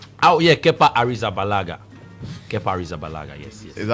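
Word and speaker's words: Arrizabalaga: mention his full name oh yeah Kea arala kear zabala yes is that how it's pronounced yes that his name aragaaga yes when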